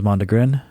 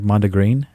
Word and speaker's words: mondegreen: I always thought it was Mandrin, but it looks like Manda Green. Well, let me tell you why it's pronounced that way.